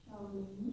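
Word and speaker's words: Xiaolin: How do you pronounce? Shaolin. Shaolin?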